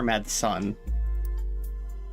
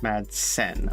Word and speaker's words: Madsen: Well, yeah, but Is it Madsen or Madson? Madsen.